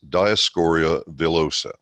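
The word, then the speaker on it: Dioscorea villosa: the first thing you see on it is diascoria vilosa and that's the correct pronunciation by the way it's taken from a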